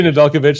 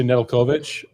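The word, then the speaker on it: Nedeljkovic: that some people say nalovic some people say nalovic it's potato potato for sure I spent 34 minutes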